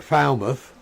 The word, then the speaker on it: Falmouth: same uh with like Falmouth um Dartmouth we' got a load of these Villages which we would we don't pronounce it mouth even though that's what it comes from it's you know it's